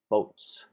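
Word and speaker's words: buuz: that's really really good called boats sounds like boats alright like I'm on a boat but it's not spelled like that and it's usually has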